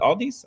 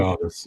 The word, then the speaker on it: Aldis: Um we also have GA versus uh Aldi. I think that's how you say his name. Nick Aldis.